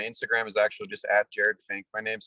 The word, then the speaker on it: Jerad Finck: that's very important as well too once again jared fink of blazar here on the mike wagner show